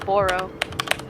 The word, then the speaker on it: Attleboro: Attleboro. Attlebeeu. Boro. But they say borough. It's so stupid. I'm like, it's borough.